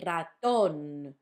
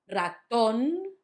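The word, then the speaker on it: ratón: So the first one is on the last syllable, raton, not raton, raton, raton.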